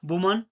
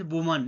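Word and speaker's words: woman: मैन एम इ एन वुमन guys it's correct pronunciation वुमन नॉट वुमेन। Okay? It's वुमन।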